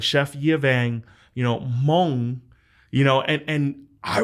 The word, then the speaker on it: Hmong: um now how do you say is it hamang or is it Hmong or like and he literally we spent like